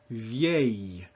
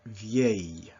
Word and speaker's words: vieille: And so if we just sound this out phonetically, it's V-A, vieille. So you still got that Y sound on the very end, vieille.